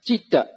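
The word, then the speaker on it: citta: first one is jeter so in bali i now pronounce e so when you put the t there speak on cheat no cheetah so it is consciousness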